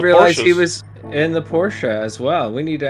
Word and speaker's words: Porsche: I didn't realize he was in the Porsche as well. We need to add him to our uh our little group chat. Team Porsche. I think currently he is P3 in the Porsche standings. Porsche. Porsche.